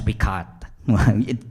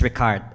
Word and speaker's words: RICART: And the project is pronounced as RICART. If you want to sound Italian and French at the same time.